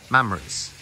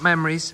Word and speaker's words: mammaries: So cows have tissue in their elders called mammaries. Not memories, mammaries.